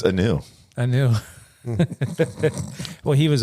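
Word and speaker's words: Kanew: it just new canoe is the K silent a new no just new it might be how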